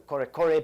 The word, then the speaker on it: Kore: It is less played than the mbira za vadzimu because it's basically what was once known as the Kore people, which is a dialect of Shona.